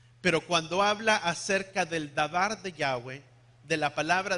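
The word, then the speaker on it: דבר: Di conmigo, davar. La palabra palabra en el hebreo es davar.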